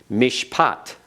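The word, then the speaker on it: מִשְׁפָּט: Mishpat.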